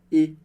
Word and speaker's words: et: Perceba que o T do final de e a gente não lê, porque essa é a regra geral do francês.